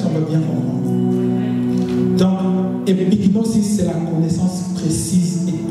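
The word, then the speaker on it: epignosis: La deuxième, c'est épignosis.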